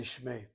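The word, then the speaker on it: שְׁמֵי: And if you want to be particular, there's like a diphthong. It's a shmei. Trying to give a sound to that unit, I guess. I simply say shmei.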